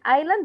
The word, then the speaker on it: island: بقية الفوكابلوري عندي wonderful كلمة island حرف الاس هنا silent island weather بطلع لساني